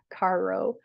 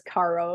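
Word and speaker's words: carro: um car in Spanish Caro I would say it as Caro it's not pronounced Caro it's like car with rolling R but um so you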